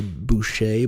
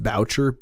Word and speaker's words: Boucher: name of butterfly I I thought for a long time it was butterfly Boucher but I guess it is pronounced bow chirp EO u CH er